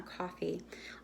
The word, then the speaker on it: Ko-fi: It's pronounced coffee like the drink, but they spell it Kofi, I think.